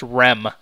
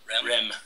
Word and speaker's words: REM: you're listening to DJ REM REM RM but pronounced REM REM okay same thing but okay like so this